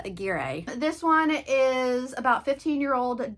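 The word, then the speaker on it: Aguirre: Ray Tacero and Claudia Agger. This is editing key to say that I butchered their name, so I looked it up. It's Ray Tersiierro and Claudia Agira.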